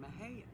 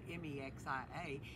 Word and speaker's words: Mexia: we have a town in texas named mahayan spelled m-e-x-i-a and some people come in and pronounce it mexia it was named after a